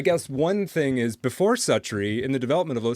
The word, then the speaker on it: Suttree: Cormac McCarthy's SUTTREE, or I think you say it's SUTTREE. I heard somebody pronounce it a much more pretentious way than that once, but I'm going to keep calling it SUTTREE.